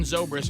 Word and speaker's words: Zobrist: the guy's name ben sobra zobrist zobrist ben zobrist and he did give the cubs he was